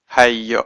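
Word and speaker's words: היא: And sometimes it's spelt, in the first 5 books it's spelt with a vav, and it's got a little cherek here to say don't pronounce it who but he.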